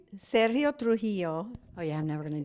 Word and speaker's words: Sergio Trujillo: Sergio Trujillo, Oh, yeah, I'm never going to do that one right.